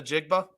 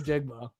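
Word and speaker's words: Njigba: the floor right now I want you to pronounce say the name well Jackson Smith the jigba thank you okay but he couldn't say Jackson Smith the jigma wow anyways Clowney's still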